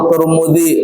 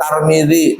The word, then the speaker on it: Tirmidzi: kitaburasu hm hah ya bacanya boleh arm turmidirmidzi semuanya boleh rawah turmudzi Boleh rawahut tarmidzi, boleh rawahut Tirmidzi, boleh semuanya paham kira-kira.